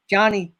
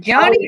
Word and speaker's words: Jonnie: Is it Jonnie or Jonnie? How do you pronounce that? It is Jonnie, just like my dad's name.